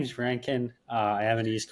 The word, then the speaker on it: Rankyn: obviously you got the name right you even pronounced it right so that's a good my name's my name's my name is Ranken uh I am an East Coast Canadian um